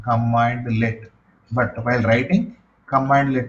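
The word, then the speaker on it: cmdlet: we have command let so we should pronounce like this one command let but while writing command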